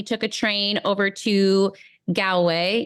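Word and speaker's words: Galway: a train over to gway you have to correct me goway yeah good good yep you're fine oh my goodness Irish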